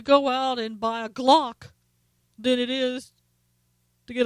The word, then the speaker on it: Glock: out and buy a glock than it is to get a book first of all I'm not sure Obama even knows what a Glock is and rhymes with clock oh yeah Glock but